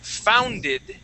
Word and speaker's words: founded: uh plymouths spurg was founded okay so I don't say founded that that uh e sounds like a short I okay so that's what